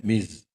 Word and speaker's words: Ms: Kalau MS itu dibaca dengan Miss. Seperti Z lah.